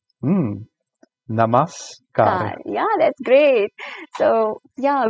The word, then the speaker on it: Namaskar: It's like Namaskar. Mhm. Namaskar.